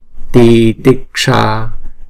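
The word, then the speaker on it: तितिक्षा: Titiksha, titiksha. Chữ A là hai nhịp ha. Chữ S chúng ta uốn cong cái lưỡi lại. Sa, titiksha.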